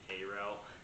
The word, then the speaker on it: Cairo: We'll put 2 in Cairo, and is that Cairo? Yeah, they pronounce it Cairo.